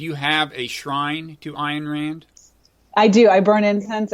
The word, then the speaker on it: Ayn Rand: Did not Ayn Rand, and that's another name I'm probably mispronouncing, right? That one you got right.